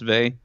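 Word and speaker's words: Weil: an affinity with Simone Bay you ever heard of Simone Bay she's a this is a book called gravity and grace but it says while but I guess it's pronounced vay okay she was a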